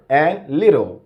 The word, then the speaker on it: little: He used the American pronunciation to pronounce these two words, reporter and little. Okay? He replaced the T there with a D sound, okay? So that's one feature of the American accent.